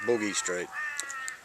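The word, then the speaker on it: Bugis Street: into the early 80s we remember a street called Boogie Street or Boogie Street what we pronounced it Boogie Street and during the this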